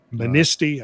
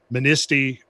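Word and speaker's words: Manistee: fire Crossing Lake Michigan to menisci I think that's how you say it I've been corrected on this I like to pronounce my word pronunciation right but menisci I think is how it's pronounced but there was also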